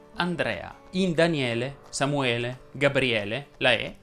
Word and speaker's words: Andrea: la o chiusa giorgio andrea sia al maschile che al femminile si pronuncia con la è aperta andrea in daniele samuele gabriele